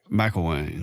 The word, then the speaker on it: Mcilwain: How do you pronounce your last name? Mcilwain.